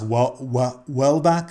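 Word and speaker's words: Houellebecq: read any of michael welbeck's it's called it's um it's pronounced well back i think well back yeah even though it looks like hollaback um have you read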